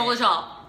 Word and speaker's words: Dolezal: Dolezal, that's how you say it. Dolezal. Not like a Zol, Dolezal. No, pronounce it right, guys.